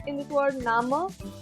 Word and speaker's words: Name: And this E in the end, like in this word Nama, this E in the end will be pronounced as A in the end. So this will be Nama.